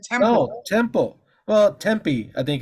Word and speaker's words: Tempe: Tampa I thought you said temple temple well Tempe I think it's super the correct pronunciation Tempe Temple or Tempe guys t-e-m-p-l-e yeah